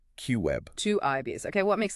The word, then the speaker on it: QIB: A specific subset of institutional investors called qualified institutional buyers or QIBs pronounced Q web.